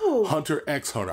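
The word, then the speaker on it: Hunter × Hunter: Well, Hunter X Hunter. I pronounced the X, bitches.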